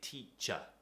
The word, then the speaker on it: teacher: said before a teacher we say teacher teacher word finishes with er we pronounce it with uh okay and that also goes